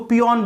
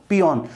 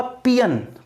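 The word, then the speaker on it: peon: कि इसका ट्रांसक्रिप्शन बताओ, तो इसका प्रोनाउंसिएशन क्या होगा? पियन, पियोन नहीं, पियन। आपको क्या बोलना है? पियन।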